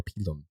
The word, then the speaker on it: pilum: The plumbata and the pilum, or pilum, if you want to pronounce it like a Roman.